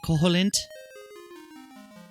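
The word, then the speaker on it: Koholint: I've always pronounced it Koholilnt. If we went with the Japanese pronunciation, it'd probably be Koholilnt.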